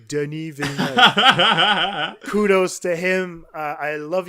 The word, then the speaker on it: Villeneuve: And Denis Villeneuve, that's the way we say his name, Denis Villeneuve.